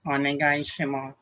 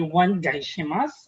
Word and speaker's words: onegai shimasu: Okay, next one is we have dozo yoroshiku onegai shimasu. Okay. So be careful with our pronunciation here. We don't say onegai shimasu or onegai shimasu. It's a silent U.